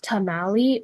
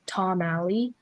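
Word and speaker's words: tomalley: The word is tamali or tamali.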